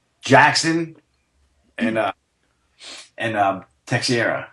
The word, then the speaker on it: Teixeira: the last name - sheriff - sheriff you were a true Yankees fan you would know that because he just pronounced it the same way you pronounce your first baseman's Mark Teixeira but then those [